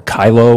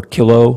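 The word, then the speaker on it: Kyllo: pronounce it's called the kylo or kilo case from 2001 right uh how do you say that first of all do you know I say kylo okay kylo sounds good to me um uh I could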